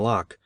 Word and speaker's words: Locke: i read hume and locke and partly understood them i think though i did not know that lock is pronounced in only one syllable till many years after